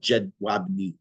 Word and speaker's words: Jedwabne: It's spelled Jedwabne, but it's pronounced Jedwabne.